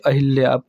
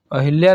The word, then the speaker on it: अहल्या: और नेक्स्ट है अहिल्या कितना लोग कहेंगे कि अहिल्या तो सही है लेकिन गलत है अहिल्या नहीं अहिल्या होता है पढ़ते हैं हम लोग अहिल्या है लेकिन देखिए उच्चारण यदि आप लोग सही करेंगे तो आपका वर्तनी वाला कभी गलत नहीं होगा तो अहल्या आपका